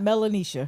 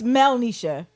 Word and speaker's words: Melisha: My name is not Melania. What is it? It's Melisha. Oh.